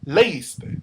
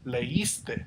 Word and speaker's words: leíste: The reason it does here is because whenever you have two vowels together and one of them is a U or an I, and it's the sound, it's the part you stress, no one says leíste. They say leíste. They're stressing the I.